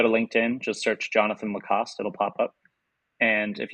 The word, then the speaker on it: Lacoste: So when I'm with them, it certainly is Jonathan Lacoste. But for an English audience, it is Lacoste, classic alligator shirt.